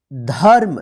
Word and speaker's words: धर्म: ध्यान रखिएगा जिस अक्षर पे रेफ की मात्रा लिखा रहेगा उस अक्षर के साथ जो है ना, आधा र का उच्चारण नहीं कीजिएगा। उससे पहले जो अक्षर लिखा रहेगा उस अक्षर के बाद जो है ना, आधा र का उच्चारण कीजिएगा।